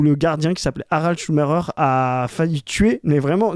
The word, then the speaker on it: Schumacher: Donc, personne ne dit Michael Schumacher en France. Hein. Tout le monde dit Schumacher. Tout le monde est d'accord pour le prononcer à l'allemande.